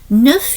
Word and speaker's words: neuf: Neuf you're pronouncing the F, and dix you're pronouncing the X.